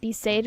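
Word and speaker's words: Besaid: Besade was how it's pronounced this whole time.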